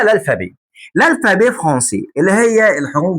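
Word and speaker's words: alphabet: بالفرنساوي اسمها الفابي، اللي هي الف باء بس احنا ما بننطقش التاء، فاسمها الالفابي.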